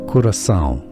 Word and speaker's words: Curaçao: It's pronounced as Curacao.